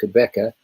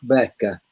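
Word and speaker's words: Qhubeka: the of the team quebecer well the way we should be saying team quebecer is team becker and that's the correct way to pronounce the word if you if you're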